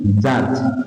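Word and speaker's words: judge: Next আসুন জাজ, জাজ, জে ইউ ডি জি, দেখো আবার দেখো বি এবং জি পাশাপাশি বসেছে, তাহলে বি উচ্চারণ হচ্ছে না।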